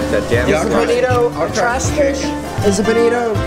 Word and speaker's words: bonito: The Bonito, which apparently it's Bonito, not even Bonita.